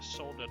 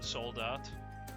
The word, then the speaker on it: Soldat: I keep forgetting to pronounce the T in soldat, because that's German, but it's also the same way it's spelled in French. And in French, the T is silent. If you wonder why I say sometimes soldat and sometimes soldat, that's why. Soldat is how you pronounce it in French. Soldat is how you pronounce it in German.